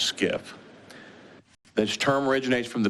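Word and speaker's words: SCIF: sensitive compartment information facility it's pronounced skiff this term originates from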